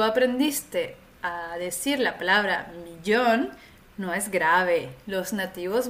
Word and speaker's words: millón: es el millón un millón aquí hay un poco de dificultad por la pronunciación de la doble l la doble l en español se pronuncia como una Dj en francés y una y hay diferentes variaciones en